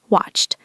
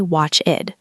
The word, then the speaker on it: watched: In the past, we add e d, but we pronounce it like a t. Watched. Listen to the n sound ch. Watched. Watched. Listeners, try that. Don't say watchid.